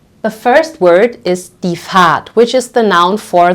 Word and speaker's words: Fahrt: So in this case here, in this word, this sounds like a very much prolonged A, die Fahrt, okay?